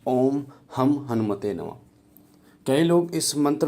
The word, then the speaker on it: ॐ हं हनुमते नमः: ओम दुम दुर्गाय नमः तो जो मैं का उच्चारण है वो एक सही उच्चारण है इस मंत्र का ओम हम हनुमते नमः ओम हम हनुमते नमः इस मंत्र का और